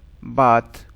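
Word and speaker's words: bath: बाथ, कुछ बाथ बोलते हैं, कुछ बैथ बोलते हैं, डिपेंड करता है प्रोनाउंसिएशन के ऊपर।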